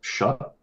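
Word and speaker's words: Shough: So my my biggest concern is that in um alo apparently it's pronounced shut for me to Wikipedia.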